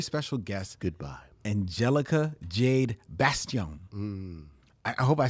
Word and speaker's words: Bastién: my head in like it's not bason it's Baston or Bastian you should